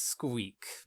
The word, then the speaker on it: SQK: that to go yeah is squeak pronounced suck or squeak it is squeak big squeak ink for the title oh mouse squeak squeak squeak not a big sucking which would be very very different and with that you